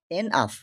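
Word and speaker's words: enough: ওকে, এটা প্রোনাউন্সিয়েশনটা তোমরা ঠিক করে নেবে, এনআফ।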